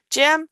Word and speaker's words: gem: It's going to be a J M because it comes before the E. Gem.